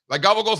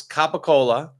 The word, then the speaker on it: capicola: No, it's Capicola. And they just pronounce it gabagol. You just replace the C's with the G's.